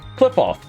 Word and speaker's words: Kliffoth: So, clip off, pronounced Cliff.